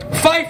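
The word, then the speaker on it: Phife: a huge huge inspiration fife rhymes with mike and my rip my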